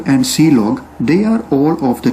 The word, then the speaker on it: clog: the last one is clog which is pronounced as c log and this is used